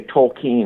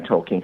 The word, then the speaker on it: Tolkien: real serious about it I think you're supposed to say Tolkien like I'm keen on Tolkien having said that I